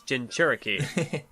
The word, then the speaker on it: Jinchuriki: No, it's a CH. Like, I always got it confused by pronunciation, but I saw it spelled here, so it's Jinchuriki.